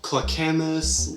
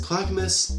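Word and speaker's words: Clackamas: do but you know clamus willit weslin no it's clus will liit and Westland also I forgot to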